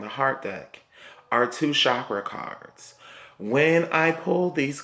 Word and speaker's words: chakra: heart Dec are two chakra cards when I pulled these cards I first heard spirits say it's the shock I'm sorry I'm pronouncing it wrong it's pronounced chakra spirit said it's gonna